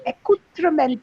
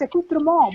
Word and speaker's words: accoutrement: Now it's a French word, but it's used in English, and somebody used it in English, and of course I kept saying ment, accoutrement, but it's not. It's accoutrement because it is a French word.